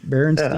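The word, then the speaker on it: Berenstain: you spell it right barenstein that's how I remember growing up with it's barenstein not barenstein barenstein yeah St s a i n nope s i n i how I remember it that's how I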